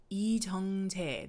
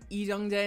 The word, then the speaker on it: Lee Jung-jae: Lee Jung-jae. There you go. And as soon as I saw him, I was like, oh yeah, this is gonna be up, because I've never seen Lee Jung-jae in something that wasn't at least a little